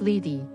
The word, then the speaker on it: Lethe: Lethe, pronounced Lethe, is one of the 5 rivers in Hades.